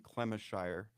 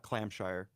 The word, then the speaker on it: Clemishire: The sexually abused child at the time was Cindy Clemishire, not Clamshire. We've been mispronouncing her name often.